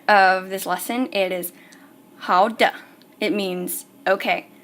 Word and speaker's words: 好的: It is 好的. It means okay. 好的. And the de is in fifth tone, which is nothing. So it's just de.